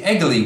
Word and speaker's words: Egely: would like to present to you today the eglee wheel this is spelled eg e L Y it is a